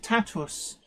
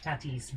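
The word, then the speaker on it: tatws: And I found out today from a native Welsh speaker that it's pronounced Tatus. So it's Minith Tatus. That sounds right, because the way your mum says boots would suggest it would be pronounced with a W.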